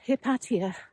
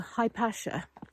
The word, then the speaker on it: Hypatia: entitled it is entitled the murder of hepatia or high pasha is another pronunciation of that name now high pasha instantly